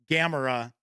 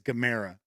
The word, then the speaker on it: Gamera: asks I know in the U.S everybody says Gamera but the corre correct pronunciation is Gamera so Russell says this is a 120 millimeter